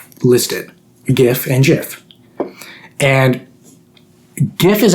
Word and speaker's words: GIF: tell me I'm wrong when I say GIF I I feel very strongly about that my argument is the G is for graphics Graphics interchange format G with graphics with a hard G but here's the thing